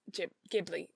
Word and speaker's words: Ghibli: mean old ghibli films ghibli ghibli film it's a hard g right it's a gibbly not a ghibli because if it was a ghibli it would be jay ghibli right i don't know